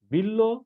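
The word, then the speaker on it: বিল্ব: হয়েছে বিল্ল শব্দটি দেখো বিল্ল এর সাথে ব ফলা যুক্ত হওয়ার কারণে ল এই বর্ণটা দুইবার উচ্চারিত হয়েছে এরপরে দেখো গ নম্বরের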